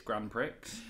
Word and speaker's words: Grand Prix: Oh, my little boy mispronounced it. It's Grand Prix, but which is not too inaccurate either.